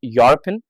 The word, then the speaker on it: European: A European dish. इसकी spelling जरूर EUROPEAN होती है, पर इसको अ लगाया जाएगा क्योंकि य की साउंड आ रही है।